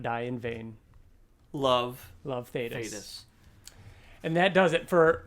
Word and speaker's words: Thetis: Then the final 2 pages is Alan receiving a letter from Thetis. Of course, after learning that after Kirkman tells us that it's pronounced Thetis and not Thaddeus, we have to read